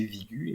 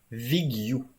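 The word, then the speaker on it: Vigue: ont proposé des prononciations mais on voit que c'est pas prononcé vigu évidemment ça semble prononcer comme ça l'indique en bas vigu en fait donc ça resterait un peu plus proche de Veilleux que de juste vigu en fait donc si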